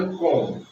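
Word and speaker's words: comb: बी है, यानी एम के बाद है ना, तो बी क्या हो जाएगा? साइलेंट हो जाएगा। बस हम इसी को इतना पढ़ेंगे, कॉम। क्या पढ़ेंगे? कॉम। बी का उच्चारण हम नहीं कर सकते हैं, इसलिए होगा कॉम।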